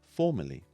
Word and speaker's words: formerly: with the letters e-r-l-y however when we say the words they sound almost exactly the same formally formally now you try very